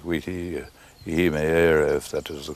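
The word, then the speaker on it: Witi Ihimaera: And another promising sign is the rise of the Maori self-confidence in writing by chaps like Witi Ihimeera, if that is the correct way of pronouncing it, and not many another.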